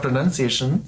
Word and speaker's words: pronunciation: not pronunciation pronunciation um and it's actually linked to inunciation right which is to speak clearly and um it's not linked to pronoun which is where the confusion comes from yes and